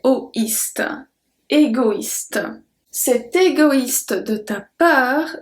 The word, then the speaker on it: égoïste: If you remember well, when we have a tréma, that means that we have to pronounce that letter. If there were no tréma, I will say égoiste, égoiste, because OE is wa, égoiste.